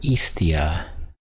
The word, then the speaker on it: Hestia: In ancient Greek religion, Hestia, or Hestia, and right there it's pronounced Isthia. See right here? Greek, that would be Isthia, or hearth, sorry, virgin goddess of the hearth.